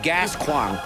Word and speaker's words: Gascoigne: whoa whoa whoa It's pronounced gasquong oh sorry I father